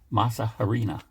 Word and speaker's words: masa harina: We've got organic masa harina.